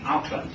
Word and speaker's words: Auckland: Auckland, of course, but it could be Auckland if we were trying to use a Māori pronunciation.